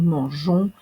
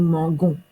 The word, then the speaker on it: mangeons: prononciation que dans l'infinitif donc euh manger nous mangeons hein ce il nous faut ce g dou et si nous ne mettons pas le E ça ça deviendrait nous mangons puisque un G plus